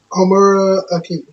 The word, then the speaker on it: Homura Akemi: Homura Akemi.